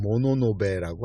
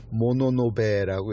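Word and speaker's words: 物部: 그 가문의 이름은 모노노베라고 합니다. 물건 할 때 물자를 쓰고, 무슨 부, 외교부, 외무부, 경제통상부, 이런 거 할 때 붙여서 물부 해서 읽기는 모노노베라고 읽습니다.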